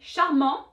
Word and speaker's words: charmant: For instance, il est charmant, elle est charmante. That T was that silent letter.